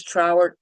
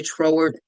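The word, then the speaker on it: Troward: That's Thomas Trroward, spelled like Howard with a TR in front of it. some say Tor.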